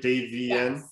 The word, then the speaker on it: Davienne: it works man so i know that dave vn am i saying that right dave vn yes i've been saying it non-stop like last